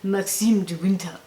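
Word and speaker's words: Maxim de Winter: And you have to say it like this, you have to say, Maxime de Winter.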